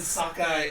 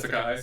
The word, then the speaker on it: Sakai: Not only that, but they have Stan Sakai. That's not how you say it. Stan Sakai. Stan Sakai.